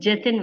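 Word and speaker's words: Jathin: His name is Jatin, ma'am. Jatin. Spell it for me.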